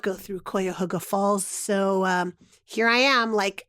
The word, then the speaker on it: Cuyahoga: Because famously, REM has a song about Cuyahoga where they pronounce the name of the river wrong throughout the song. It is the Cuyahoga.